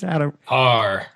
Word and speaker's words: Paur: Paur. It's like golf. Paur. Perfect. It's not intuitive though.